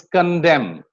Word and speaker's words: condemn: It's condemn. That's it. Condemn. You don't pronounce the letter N here, right?